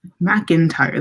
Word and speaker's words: McIntyre: McIntyre. That is how you say that name.